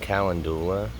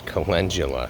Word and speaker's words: calendula: So we're gonna walk right over here and deadhead the calendula, which I was saying calendula, and it's not calendula. Apparently it's calendula. I put the wrong emphasis on the wrong syllable.